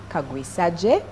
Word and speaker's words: Kagwisagye: Matthew Kagwisagye. Dr. Matthew is an, obstetrician and gynecologist. Yeah. Did I pronounce it right?